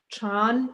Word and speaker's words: Chan: is what is chan chan is the chinese word for the more known word zen then and it's actually the same chinese character with one chinese and one japanese pronunciation and actually in one